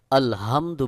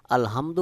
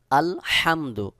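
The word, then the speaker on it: الحمد: উচ্চারণের সময় যদি আপনি আলহামদু বলেন তাহলে অবশ্যই এখানে অর্থ পরিবর্তন হয়ে যাবে কোন ক্রমে আলহামদু বলা যাবে না সহি উচ্চারণ হলো আলহামদু হলকের মধ্যখান থেকে এই হা উচ্চারণ করতে হবে সহি উচ্চারণ হলো আলহামদু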